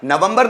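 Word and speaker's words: November: Next नवंबर, नवंबर नहीं, नवंबर, नवंबर means नवंबर, नवंबर, जिसमें आर आगे आ रहा है लास्ट में, उसको साइलेंट बना दिया जाए।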